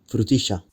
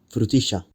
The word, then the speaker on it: frutilla: frutilla, Why is there a sh sound here? In Rioplatense, the sound represented by LL is pronounced sh, rather than the typical y or dy pronunciations. frutilla, Calle.